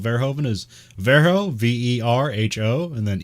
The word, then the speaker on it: Verhoeven: um the way i like to remember how it's spelled verhoeven is vero v-e-r-h-o and then even at the end verihoven effect um so this has been the vero